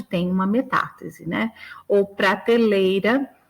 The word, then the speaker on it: prateleira: Ou prateleira, parteleira, né? Então também continua na mesma sílaba.